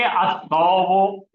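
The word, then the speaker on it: الثوب: असल में तौब है, तो जबान की नोक से आ रहा है, तो क्या बन गया अल को मिलके? अत्तौब।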